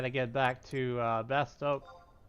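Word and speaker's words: Bastok: spelled some people say bastock some people say best o but there's no C there there's no stock it's it's it's to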